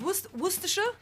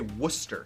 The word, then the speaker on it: Worcestershire: Or Worcester. It's Worcestershire. I think a lot of people but- say Worcester.